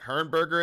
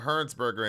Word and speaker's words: Hernsberger: was it Hernberger in the house? What's going on? Hernsberger in the house. I want to make sure we're pronouncing the name correctly.